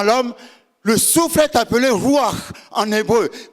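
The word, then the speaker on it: רוּחַ: Le souffle est appelé ruach en hébreu. Quand tu prononces ruach, tu prononces le H.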